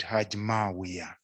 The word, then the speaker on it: Haj Mawia: Haj Mawia, that's his pronunciation of his name. I've heard people not pronouncing it well. He's called Haj Mawia.